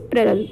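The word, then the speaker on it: plural: सबसे पहला रूल लिखा हुआ है with I, वी, you, they and प्लुरल nouns. The correct pronunciation is प्लुरल। Okay? Not प्लूरल।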